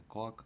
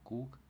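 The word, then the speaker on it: cook: От два о читається як у. І тому готувати читаємо не кок, а кук.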